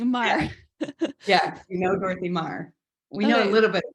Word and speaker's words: Marr: Yeah, so your third great grandfather, John Mar, is that how you say it? Marr. Yeah, Mar. like M-A-R. M-A-R.